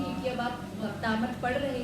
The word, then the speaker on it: भक्तामर: यदि आप भक्तांबर बोलेंगे तो वहां पर कोई वो नहीं है। ऊपर बिंदी नहीं लगी हुई है और ना ही ब शब्द है। म शब्द है और म शब्द से अलग अर्थ भाषित हो रहा है।